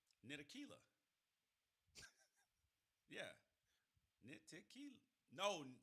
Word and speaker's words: Ntilikina: Ntilikina. Yeah. Ntilikina. No, Ntilikina. I pronounced it like I used to call Fred Van Fleet.